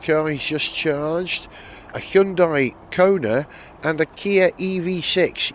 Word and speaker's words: Hyundai: While we're on the subject of Korea, parked right next to me, quite by coincidence, is a Hyundai, sorry, Hyundai.